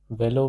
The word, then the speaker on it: vélo: Velo means a bicycle. This is pronounced as velo.